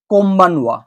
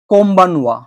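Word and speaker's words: こんばんは: আমি উচ্চারণ করব তখন যেহেতু এন বি এর সামনে এসছে সেইজন্য এর এই এন এর প্রোনাউন্সিয়েশনটা বা উচ্চারণটা চেঞ্জ হয়ে যাবে এম এ এবং তাই এটা হয়ে যাবে কম্বানোয়া কম্বানোয়া আর কম্বানোয়া মানে তো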